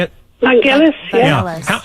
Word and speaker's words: Vangelis: Vangelis, yeah.